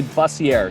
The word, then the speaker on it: Bussier: my whole life but it's it's actually buzzier so bussier i